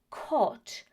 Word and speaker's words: caught: In this situation, the silent letters are the G and the H. So what we say is caught and bought.